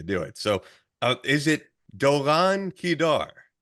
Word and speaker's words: Doron Keidar: So is it Doron Keidar? Doron Keidar. So try to roll your R's more like Spanish.